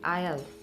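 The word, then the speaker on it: aisle: the words i-s-l-a-n-d s is silent and it's pronounced as island a-i-s-l-e il and then i-s-l-e-il and next silent letter we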